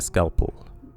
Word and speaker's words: scalpel: a different damage type the second syllable in scalpel is shortened like scalpel okay thank you thoughtful